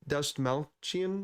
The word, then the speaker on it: Dastmalchian: I don't know how to pronounce his last name, but the guy who plays Kurt, David Dastmalchian.